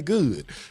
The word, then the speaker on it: Goud: good tea Kings and I'm gonna have to show people how to pronounce it because they people like good God I'm like just don't try to be fancy with it just say good yeah yeah so um